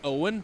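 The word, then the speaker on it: Eoin: So it would be probably Owen, but spelled E O I N.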